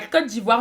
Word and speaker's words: Côte d'Ivoire: qui disent ivory coast normalement la côte d'ivoire ne se traduit pas et doit se prononcer ainsi dans toutes les langues ce pays est également